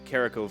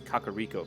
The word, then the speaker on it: Kakariko: was supposed to be i've learned that kokiri forest i often called uh one of the villages uh carico village not realizing there's actually two k's and it's kakariko village which just sounds